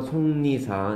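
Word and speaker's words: 속리산: 우리말도 발음 기호가 필요한 경우가 있습니다. 송리산. 뭐? 안 들려. 화이트 어디 있을 거 여기 있다. 송리산이라고 발음하죠, 그렇죠? 송리산.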